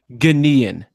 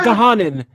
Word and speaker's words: Ghanaian: Okay, no, Jared, let me pronounce it for you. Ghanaian. Okay. Ghanaian. Not Gahanin.